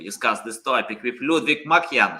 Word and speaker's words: Makhyan: So in Armenian, we have the letter Ch, which is not available in English. So the actual last name is Makhyan, but in English I'll pronounce Makhyan.